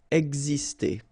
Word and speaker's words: exister: Okay, so it's really this X here, it's pronounced like X, X, exister.